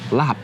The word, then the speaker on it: laap: So wherever you go in Thailand, laap is going to be pronounced laap, right?